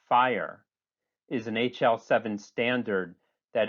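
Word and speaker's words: FHIR: global health data interoperability fast healthcare interoperability resources pronounced fire is an hl7 standard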